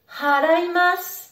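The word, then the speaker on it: 払います: Attention, il faut bien prononcer le H du début du verbe.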